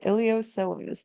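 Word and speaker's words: iliopsoas: lateral Rotator adductors and ilos the p is silent just like those IDs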